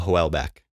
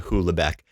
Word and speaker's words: Houellebecq: that name out loud i pronounce his last name hoola beck which is not french or any language hulabeck sounds like hubestank the